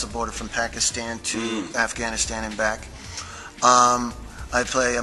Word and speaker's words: Afghanistan: And then, of course, in rehearsal, we had a dialect coach that helps us with pronunciations, like instead of saying Afghanistan, we'll say Afghanistan. That sound.